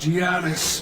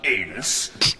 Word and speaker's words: Janus: It's pronounced Janus, not anus.